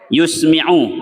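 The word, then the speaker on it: يُسْمِعُ: mampu dia dengar sendiri yusmiu ya bacanya bidomil ya dengan mendomahkan ya'u seukuran yang dapat didengarnya waasril mim ya baris bawah mimnya yusmiu ya seukuran yang mampu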